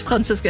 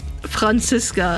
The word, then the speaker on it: Franziska: Franziska, and I'm like, it's pronounced Franziska and not Franziska, but, like, obviously I know people don't know that because that's German.